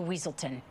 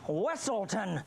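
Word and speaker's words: Weselton: you straight back to weaselton it's pronounced wesselton stop no oh no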